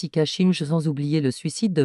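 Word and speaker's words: 一家心中: Il existe d'autres variantes du shinju, le suicide familial qui en japonais se prononce ikashinju sans oublier le suicide de meurtre qu'on dit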